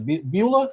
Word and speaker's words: Beulah: How do you say Beulah?